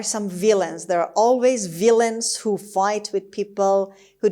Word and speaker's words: villain: The third word is villain. villain. villain. خب villain استرس روی قسمت اول هست و A-I-N آخرش به شکل شوا تلفظ میشه.